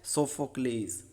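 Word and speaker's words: Sophocles: और इसके राइटर है सोफोक्लेस। एक और इसका प्रोनाउंसिएशन है Oedipus the king bye सोफोकल्स।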